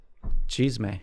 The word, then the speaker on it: chisme: Steph calls it cheese-may. Cheese-may. Say it again. Is tea? Yeah. It's like drama.